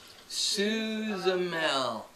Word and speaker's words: Suzamel: Suzamel. It's like Gargamel, but with.